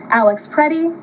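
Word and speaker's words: Alex Pretti: This includes Renee Good, Alex Prey, the brave men and women of federal law,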